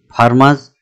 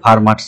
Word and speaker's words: Fermat: এই লেকচারে আমরা ফার্মাস লিটল থিওরাম এটা পড়ব। উচ্চারণটি কিন্তু ফার্মা হবে, ফার্মার্স নয়। ইনি একজন ফ্রেঞ্চ ম্যাথমেটিশিয়ান ছিলেন।